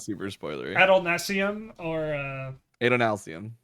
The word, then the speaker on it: Adonalcium: I wasn't gonna say because I can't pronounce it. So That one's at not super spoilery. Adolnasium or Adonalcium. Adonalcium.